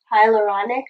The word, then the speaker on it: hyaluronic: Hyaluronic.